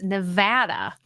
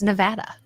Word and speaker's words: Nevada: what did you say it's Nevada not Nevada I know I'm like